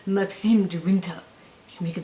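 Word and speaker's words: Maxim de Winter: And you have to say it like this, you have to say, Maxime de Winter.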